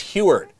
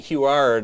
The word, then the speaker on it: Huard: butchering it every time it's heward yeah so here I'm saying who art all this time and uh but isn't